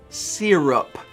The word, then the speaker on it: syrup: i'm holding out man uh serp got one syllable sir one syllable we'll find another word